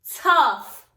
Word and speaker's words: tough: It's the word tough. Tough. That test was tough. You should have written T-O-U-G-H. And the only thing you had to do, boys and girls, is put a small F above G-H.